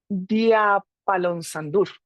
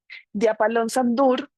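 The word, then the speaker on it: Djúpalónssandur: Otra parte, otra parada relevante es eh a ver si lo logro pronunciar, Diapalonsandur y porque la J suena como I, eso sí ya lo aprendí. de Apalón Sandur.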